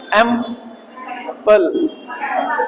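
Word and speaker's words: ample: पहुंच गए सर एपल एम पल ल नहीं बोलना आधा है एंप एंप ए एम प ल ल की साइड में जाओगे लेकिन बोलोगे नहीं पूरा ल ऐसे नहीं करोगे एंप एंप एपल एेंट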